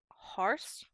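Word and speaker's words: hoarse: get whether but whether two pronunciations of horse which is very hard for me to do so h o r SE is horse and HOA r SE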